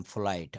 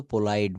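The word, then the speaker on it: polite: Subject নিজে যদি থাকে, যেমন আমি ভদ্র, আই এম ফোলাইট, আই এম ফোলাইট। আমরা কিন্তু পোলাইট বলবো না, ফোলাইট, ফোলাইট।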